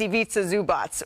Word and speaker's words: Ivica Zubac: So we're just making sure, PSA to everybody out here, it's Ivica Zubac.